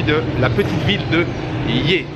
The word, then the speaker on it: Ye: la petite ville de lier ça s'écrit y eu à se prononcer et je vais y